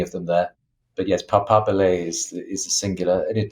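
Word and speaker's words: papabile: Yes, it's Papabili is the singular. Papabili is plural. It's the Italian.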